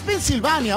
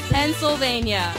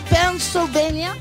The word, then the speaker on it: Pennsylvania: desde Nueva yorkers New jerse pv no es pennsyvania ojo la verdadera pronunciación no es pennsyvania así se pronuncia correctamente por favor pania Oh Again Again Pennsylvania Pennsylvania Estamos celebrando el Día del Padre qué estás